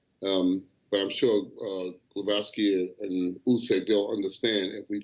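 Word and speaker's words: Głowacki: him very well against glowaki um glaski let me say because I've been told I pronouncing the name on it's glaski it's hard you know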